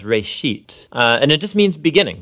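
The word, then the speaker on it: בראשית: Genesis Genesis comes from a Hebrew word it's pronounced for a sheet and it just means beginning now there's a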